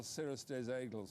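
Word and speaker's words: Cirrus des Aigles: Yeah, but Announce's form is very good with Cirrustes Anglais, who went on the Champion Stakes. And how do you say that horse's name again? What is it? Well, Cirrustes Aigles.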